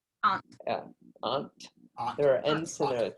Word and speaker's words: Ent: so maybe in so maybe in midcentury England they pronounced it ant ant Aunt yeah Aunt there are